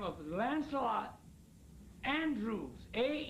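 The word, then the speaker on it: Andrewes: A man by the name of Lancelot Andrews. A N D R E Andrews. W S E A N D E R E W S E Andrews.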